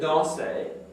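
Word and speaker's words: dansent: So here, je, you've taken the verb danser, put it in the eel plural form, which is what? What's the eel plural form of danser? Now we don't pronounce that ENT. Danse. But it's with an ENT.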